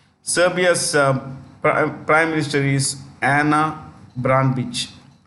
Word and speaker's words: Ana Brnabić: Serbia's prime minister is Ana Brnabić. Brnabić. It's the C is pronounced with this Brnabić.